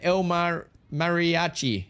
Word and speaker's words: El Mariachi: El Marachia with 1 month. Thanks, buddy. Is that how to say it? El Mariachi. El Mariachi. I got it.